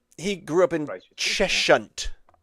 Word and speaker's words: Cheshunt: Cheshunt. Cheshunt. I used to play Cheshunt Tigers at football quite a lot. Cheshunt. You don't pronounce the H.